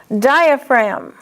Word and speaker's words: diaphragm: Diaphragm. Diaphragmatic. See, diaphragm is a noun, diaphragmatic is an adjective. In diaphragm, the G is silent, but in the adjective, diaphragmatic, the G is pronounced.